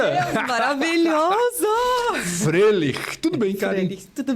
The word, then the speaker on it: Froehlich: É assim que se pronuncia? Deus, maravilhoso! Frelich.